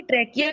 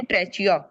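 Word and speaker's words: trachea: वो चली जाती है ट्रेकिया के अंदर लेट me just just right ट्रैकिया इसकी स्पेलिंग ऐसे जैसे ट्रेचिया बट हाउ डू we pronounce it ट्रेकिया ट्रैकिया क्या मुझे कोई बताएगा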